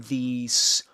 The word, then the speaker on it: these: And remember that I told you that these is pronounced with a final z, right? But in this case, as it's immediately followed by a voiceless consonant, which is this one, the s consonant, this one gets devoiced, we call it, which means